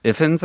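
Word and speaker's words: Ifans: Ifins I think is his name, right?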